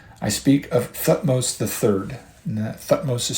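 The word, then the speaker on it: Thutmose: of Egyptian history I speak of thos III thos is spelled t h u t m o s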